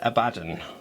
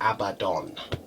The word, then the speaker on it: Abaddon: Okay, and I've always said Abaddon. Okay, now James Workshop has come around and said that it's supposed to be Abaddon.